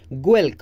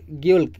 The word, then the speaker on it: Guelke: Right, and famous idealist scholar was Geulke. This is this colour is very very important, काफ़ी बार पूछ चुका है। गोल्क और ग्योल्क कैसे भी आप प्रोनाउंस कीजिए, मैं आपको स्पेलिंग बता देती हूँ।